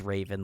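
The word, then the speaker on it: Ravn: Logan did say it is pronounced Raven, like the bird.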